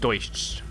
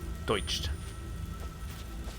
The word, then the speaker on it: Deutsch: It's just Deutsch. Deutsch. Like oi.